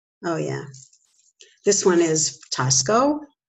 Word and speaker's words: Taxco: This one is Tosco. It's spelled out T-A-X-C-O.